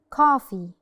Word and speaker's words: coffee: Coffee.